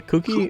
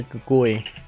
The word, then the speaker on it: Kukui: Kukui.